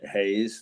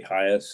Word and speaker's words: Hayes: some people couldn't uh pronounce my last name uh hayes they would say highest or whatever would give